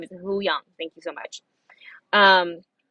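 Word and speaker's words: Huyang: lizard as a sidebar says the way to pronounce the droid's name is huyong thank you so much um for rosario yeah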